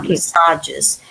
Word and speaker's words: massages: Massages. Massages. This has regained the French pronunciation.